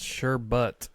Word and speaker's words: sherbet: Sherbet, pronounced sherbet, is the usual word for the frozen sweet dessert made from fruit or fruit juices.